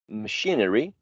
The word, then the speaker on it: machinery: prominent of the three the same thing with machine machine is stressed in the second one now when you add the suffix machinery well still the second syllable is the one which is stressed remember that the primary